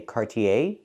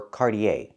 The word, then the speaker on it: Cartier: America you can say Cartier or cardier the last vowl is the long a sound like day and say not e